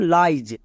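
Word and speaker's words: lies: আরেকটি ওয়ার্ড দেখো যেমন লাইজ এখানেও আই ই এস আছে আই ই এস যখন একসঙ্গে থাকবে আমরা এর উচ্চারণ আইজ করবো যেমন লাইজ নেক্সট লাস্ট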